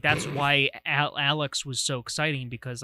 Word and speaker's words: Alyx: I like to think the way they spell Alex is pronounced Alex. They spell it with a Y.